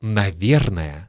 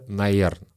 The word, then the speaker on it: наверное: Следующее слово «наверное». И «наверное» мы часто произносим как «наверн» или вообще «наерн».